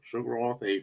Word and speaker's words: Sugrawth8: as i said before sugar off eight that's how you pronounce it that's how you pronounce my name my last name is sugar um and then so that that's the the shorter part portion or the sugar portion of it um the roth is